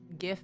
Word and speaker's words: GIF: teller machine say atm gif is gif and that's it like the website giphy it's jiffy because you get gifs in a jiffy as in fast it's gift it's giraffe there are so many soft g words the argument is so